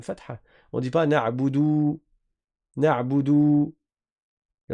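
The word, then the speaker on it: نعبد: Iyyaka na'budu. Na'budu, le ayn, là c'est une erreur que beaucoup de font qui est de ne pas prononcer correctement le ayn.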